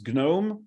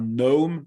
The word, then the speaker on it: GNOME: And I use GNOME or GNOME, depends on how you want to pronounce it.